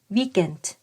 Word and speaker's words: weekend: อาทิตย์ นั่น เอง ค่ะ โดย คำ นี้ จะ ออก เสียง แบบ ภาษา อังกฤษ นะ คะ ก็ คือ Week and แต่ เวลา พูด เร็ว ๆ เสียง ของ ตัว สะกด กา หรือ ก ไก่ เนี่ย ก็ จะ ลิง กับ พยางค์ หลัง นะ คะ ก็ จะ ได้ เสียง เป็น weekend weekend อฟน อฟน แปล